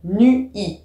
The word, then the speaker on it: nuit: Comme normalement, on doit dire en poésie nu-i. Alors que dans le langage courant, on dit nuit, c'est la nuit. Ça fait une syllabe.